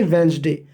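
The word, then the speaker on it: Wednesday: पढ़ने का काम करेंगे वेनसडे वेनसडे एंड यहां पर साइलेंट है आप उस पर नहीं पढ़ना है वेडनेसडे तो ऑन वेनसडे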